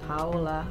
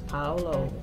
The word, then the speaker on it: Paolo: I think I may have said Paola, but it's Paolo with an O at the end of the first name.